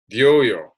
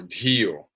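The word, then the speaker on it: धियो: But may that penetrating insight, dhyoyo, or dhiyo, sorry, may the penetrating insight, dhiyo, of that divinity, devasya, guide us.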